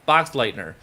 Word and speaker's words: Boxleitner: Bruce box let like say it I can't pronounce that letting her right well box Lightner whitener Boxleitner bruce boxleitner okay and he has been in